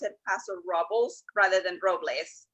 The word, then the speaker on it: Robles: It should totally be Robles. I mean, Robles is the Spanish word for oaks, and it's named as the Pass of the Oaks. And the full name of the town is El Paso de Robles, but locals call it Paso Robles in the same way they call it Los Angeles and not Los Angeles.